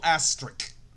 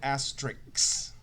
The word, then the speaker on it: asterisk: mercury which is hg you should have a little asterisk some people pronounce it asterix i don't know why astrid and then over